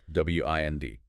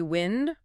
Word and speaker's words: wind: W-I-N-D. Can be wind, rhyming with send. That's the noun, moving air. Or wind, rhyming with find. That's the verb meaning to turn or coil something, like winding a clock or a string.